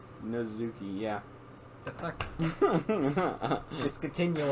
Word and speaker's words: Natsuki: I think the T is silent. I'm just saying. Natsuki. Yeah, the Natsuki. Natsuki. It's no. Fucking, that's not how you say it. Natsuki because the T is silent. Yeah. So the S becomes a Z.